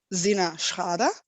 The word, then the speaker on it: SinnerSchrader: easier so i'm a principal product designer at cinesrada in german is pronounced zinashada and this is one of accenture's interactive creative